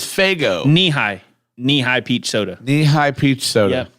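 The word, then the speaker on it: Nehi: Kelso says Faygo nihai knee-high peach soda knee-high peach soda n-e-h-i knee-high is that if that's how you pronounce it that is my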